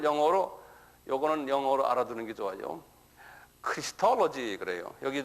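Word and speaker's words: Christology: 크리스톨로지 그래요. 여기 좀 보면 크라이스는 예수님이죠. 이게 왜 이렇게 복잡해죠? 응? 크라이스트 크라이스트인데 여기다가 크리스톨로지 그래요. 토로지 그래서 크리스톨로지 한번 발음해 보어.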